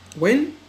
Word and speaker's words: when: When Qasim, when عندما, when H is silent, we don't pronounce H.